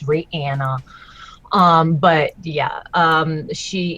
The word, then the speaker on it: Rihanna: which by the way apparently that's how you pronounce her name it's Ranna um but yeah um she is a name